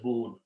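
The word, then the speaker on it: ناكبون: But when you read them together, it's a lana kibun. And when you stop, you don't say buna, but you say boon.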